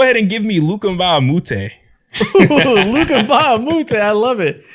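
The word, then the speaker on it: Mbah a Moute: So at my 4, go ahead and give me Luka Mbamute. Luka Mbamute, I love it. He was so good. Classic role Mbamute.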